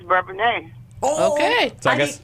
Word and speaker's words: Bourbonnais: Well, if you're from the city, it's Bourbonnais, but if you moved into the little village, it's Bourbonnais.